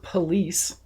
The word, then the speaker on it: Police: A Florida cop named Christopher Police. Police. It's actually pronounced police, which I'm like, wow. Oh, is it really? Yeah, it's pronounced police.